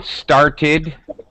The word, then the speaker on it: started: The first one, started. 2 syllables. Very good. It ends with a T.